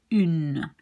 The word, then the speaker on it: une: This one you pronounce une. It's the feminine one or a. So a woman will be une femme. And there you do pronounce the N, but not here. This is un.